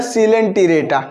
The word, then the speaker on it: Coelenterata: सी ओ ई एल को सी पढ़ा जाएगा और एल ई एन को लेन, और इसको टी रेटा पढ़ेंगे, तो आपको स्पेलिंग में कोई मिस्टेक कभी नहीं होगी। इसको पढ़ा जाएगा सिलेंट्रेटा, क्लियर?